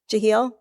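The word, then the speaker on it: Jahiel: by Jahil or Jah not sure how he pronounced his first name Moore who was the founder of the village of Forestville and anyone from Forestville or who knows how he pronounced it not sure if it was J Moore or Jahil Moore Jahil thank you so um his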